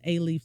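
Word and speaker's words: Alief: I went to uh aaf schools and aaf is spelled a l i e f kind of like Rel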